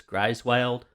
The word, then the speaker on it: Griswold: name wrong I sorry I believe it's pronounced grieswild hey my name is